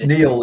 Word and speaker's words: Niall: Is it Neil or Niall? Hello, Sonia. It's Neil. It's the Scottish Gaelic spelling rather than the Irish mispronunciation of it.